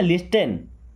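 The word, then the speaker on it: listen: लिखा क्या? लिसन। क्या पढ़ते हैं? लिसन। T silent.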